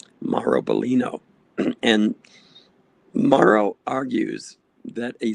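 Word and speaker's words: Biglino: Uh, his last name is spelled B I G L I N O. So, we as Americans have a tendency to mispronounce his name. Maro Bolino.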